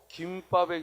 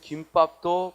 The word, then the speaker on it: 김밥: 예를 들어 김밥의 경우 과거에는 김밥이라고 발음을 해야 되는데 작년에 김밥도 발음을 허용했죠.